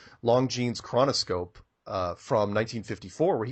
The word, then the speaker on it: Longines: Watch the Longines, pronounced that wrong, Longines chronoscope from 1954, where he goes on national television and says that Antarctica is made out of money.